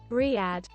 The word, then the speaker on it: Riyadh: We've got Saudia Dreamliner with a Rida? Is that how you pronounce it? I'm not sure. Riyadh, Riyadh probably is probably the way. Gotta quickly check the pronunciation on that. Riyadh.